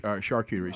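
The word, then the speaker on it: charcuterie: you look at a shuty board or Charter board how do you say that somebody that really knows like an expert in food it is shark shark cuy okay shark cutery so when you look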